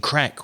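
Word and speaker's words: craic: that you were using the irish expression crack which is spelled c-r-a-i-c and you'd say oh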